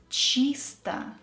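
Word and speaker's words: чисто: clearly pronouncing each word chista clean unstressed o will be pronounced as ah don't forget about that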